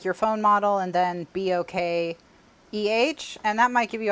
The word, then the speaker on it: bokeh: phone model and then B-O-K-E-H, and that might give you ideas on how to get that effect. It's a bokeh effect. People, you'll hear it said pronounced bokeh as well.